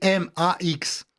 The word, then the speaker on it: MAX: Ils ont créé une nouvelle messagerie qui s'appelle alors ça s'écrit M A X donc ça se prononce max en français ou en anglais et mais en russe